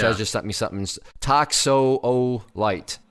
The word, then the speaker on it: Toxophilite: Toxolite. Toxopholite. Is that right? Yes. Soft. Okay. Thank you, Toxopholite. Chezz.